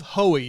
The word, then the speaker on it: Hohe: host Mark Pals Our Guest today is hoey did I pronounce that that's correct you did that okay